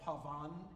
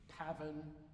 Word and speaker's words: pavan: the main dances were the paven called Pavan in French but the English always put the accent on the first syllable of every word paven Gallard aling etc those